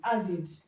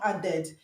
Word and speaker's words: added: Add, the past tense of add is added. Okay, the past tense of add is added. Okay, so the id here is pronounced id, not ed. It's not added, it's added.